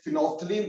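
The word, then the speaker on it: phenolphthalein: Phenol फ्थैलिन which is a well known indicator. फिनोल्फथैलीन है ना, फिनोल्फथलीन बोलते जिसको। ठीक, थोड़ा मैं प्रोनाउंस से कर रहा हूं फिनोल्फथैलीन, बट फिनोल्फथलीन बोलते ना इसको बेटा।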